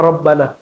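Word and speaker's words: ربنا: Jadi al-aslu ya pada dasarnya i'rab itu marfu. Marfu itu dibacanya dhammah kalau dia mujarrad, kalau dia mufrad. Rabbuna. Tapi kenapa dibaca Rabbana? Karena di depannya ada ya tapi nggak dibaca. Ya-nya disembunyikan saking dekatnya kepada Allah Subhanahu wa taala. Maka dibacanya langsung Rabbana.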